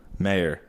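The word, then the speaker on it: Maher: M-A-H-E-R. Mayor. Marr. It's Marr.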